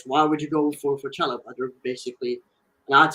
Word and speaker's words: Chalobah: Yeah, we're being linked with Chelsea's Chalobah, I believe is how you say his name, the English talent.